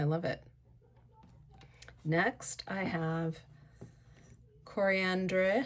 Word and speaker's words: Coriandre: Next I have coriandre. I think it's coriander but it's spelled d r e at the end.